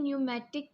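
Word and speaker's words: pneumatic: है उसके बाद है न्यूमेटिक पोस्ट इसमें पी जो है वो साइलेंट है न्यूमेटिक पोस्ट का मतलब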